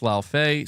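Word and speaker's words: Laufey: It's pronounced Lao Fei.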